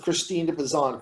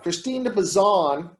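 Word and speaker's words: Christine de Pizan: name is poison and it's p-i-s-a-n but sometimes it's spelled p-i-z-a-n now what is the relevance of christine de pezan christine de bazan haley did you did you write on her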